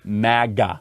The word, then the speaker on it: MAGA: So it is like magazine, MAGA.